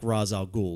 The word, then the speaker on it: Ra's al Ghul: Anybody who actually knows like Ra's al Ghul, like his daughter and all that sort of